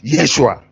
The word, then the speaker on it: Yeshua: name in Hebrew language his true name is Yeshua why I spell it y es su as h ua that is the real name so whoever call it